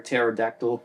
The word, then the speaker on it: pterodactyl: can't you hear a pterodactyl go to the bathroom? Because the P is silent.